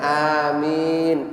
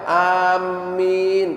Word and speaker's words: amin: Dan ketika kita mengucapkan amin itu dengan tanpa tasdid kata beliau, bacanya amin yang artinya adalah kabulkan ya Allah. Adapun ada beberapa orang membaca amin pakai tasdid, itu maknanya aku bermaksud, dan itu bukan makna sesungguhnya daripada bacaan tersebut.